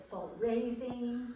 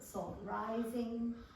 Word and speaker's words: salt rising: It's true, there are, according to the old cookbooks, some people called it salt raising, some people called it salt rising.